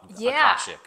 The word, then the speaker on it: Akashic: Akashic.